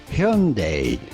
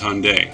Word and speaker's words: Hyundai: Here's the correct pronunciation in Korea. Hyundai.